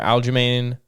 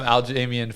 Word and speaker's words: Aljamain: Aljamain Sterling versus Calvin Kattar. Yo, you used to call him Aljamain forever.